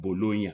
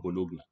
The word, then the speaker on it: Bologna: By the way, it's pronounced Bologna, not Bologna.